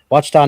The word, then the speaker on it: Ouachita: How was that pronounced again, DA? Ouachita National Forest, Arkansas.